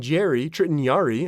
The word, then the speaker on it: Jarry: Pittsburgh goalie, I'm going to mispronounce it, Tritton Jarry. I want to pronounce his last name Jarry. It's Jarry.